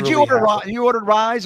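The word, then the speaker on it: RYZE: and it's amazing and it's called Ry Zee pronounced rise play on words R YZ no I don't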